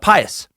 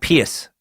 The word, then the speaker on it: pious: a lot of trouble she was pious not not pious as I believe I've